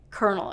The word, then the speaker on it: colonel: Kernel, it's spelled like this, but it's pronounced kernel, okay?